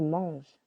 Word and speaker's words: manges: more familiar you eat tu manges silent s I give je donne